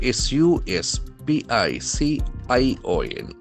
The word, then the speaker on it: suspicion: Then comes the noun form s u s p i c i o n. So as you know end must be nouns. Suspicion. Suspicion. The accent falls in the second syllable.